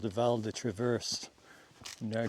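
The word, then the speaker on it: Val-de-Travers: another valley called the Valda Traverse. Did I pronounce that wrong? Valda Traverse. Vald Traver. I knew it was Vald Traver, but I said Val Traverse, didn't I?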